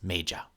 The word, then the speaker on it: Méja: Je m'appelle Méja. Notez comment l'accent irrégulier sur la syllabe <Mé> est marqué par une barre verticale à l'extérieur droit de la capsule à laquelle elle appartient.